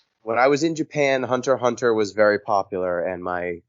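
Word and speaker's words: Hunter × Hunter: tournaments but do you you don't pronounce the x hunter x hunter yeah i've always saw hunter x hunter but is it just hunter hunter it's just hunter hunter okay i must have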